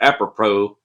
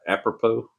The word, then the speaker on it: apropos: I spent years thinking that the word apropos, I still can't say it right. Apropos. I thought it was apropos. I would read a book and it'd be apropos, apropos.